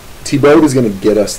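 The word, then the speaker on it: Thiebaud: but in a more lihe hearted manner Wayne tibo that's how you pronounced that last name it's not feo it's tibo make this work pies pies pies now tibo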